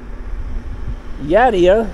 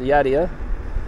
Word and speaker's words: Yadea: a scooter so when yadia or yeah I think it's pronounced yadia reached out to me